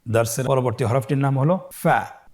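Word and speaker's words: ف: প্রিয় শিক্ষার্থী বন্ধুরা আজকের দারসের পরবর্তী হরফটির নাম হলো ফা। ফা জবর ফা ফা জের ফি। ফ্যাফি। আবার বলুন ফ্যাফি ফা পেশ ফু ফ্যাফি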